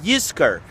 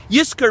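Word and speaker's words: Yizkor: year around the High Holidays different times called you skir in English you would spell it why I z KO are you skir means to remember or will remember yes karela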